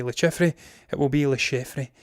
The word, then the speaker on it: Le Chiffre: the infamous Bond villain, Le Chiffre. I'm going to say it's Le Chiffre because it's French and they like to complicate the pronunciations of words a little bit too much.